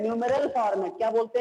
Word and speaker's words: numeral: इसको बोलते हैं न्यूमेरल फॉर्मेट।